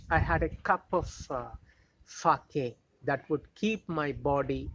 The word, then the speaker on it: sake: had a cup of sake. See, children, this word, Japanese word, we write S-A-K-E, but S-A should be pronounced as fa, just as in father, and K should be pronounced as K, K, Fake.